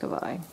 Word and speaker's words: Kavaj: I know it's a j but apparently it's pronounced cavi so feels nice and padded underneath the wrapping